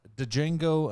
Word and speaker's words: Django: i believe it's pronounced django unchained i believe the d is silent um so django unchained zack's always wrong